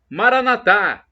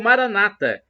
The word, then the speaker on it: Maranatha: do aramaico Eu Clamo Maranatha Pânico na última sílaba como dizemos nós católicos ou Maranata o a tônica na última sílaba como pronunciam nossos irmãos separados os protestantes ou evangélicos Então essa e não